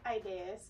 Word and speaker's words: Idais: Ideas.